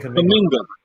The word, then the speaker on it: Kuminga: Johnathon Kuminga. Kuminga, like jollof rice.